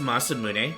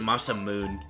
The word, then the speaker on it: Masamune: Fun fact, it's it's pronounced Masamune, but I've always pronounced it Masamoon as a kid, you know, before